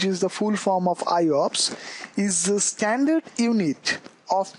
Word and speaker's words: IOPS: non continuous storage locations iops is pronounced like i ops this is not iops